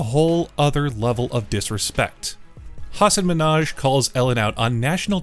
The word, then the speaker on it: Hasan Minhaj: Good, please, because everyone that says your name says Hasan Minhaj. Yeah, but the real way you pronounce it, and this is a big deal because my parents are here, it's Hasan Minhaj.